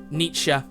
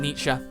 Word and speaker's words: Nietzsche: Nietzsche. Oh, is that how you pronounce it, Nietzsche?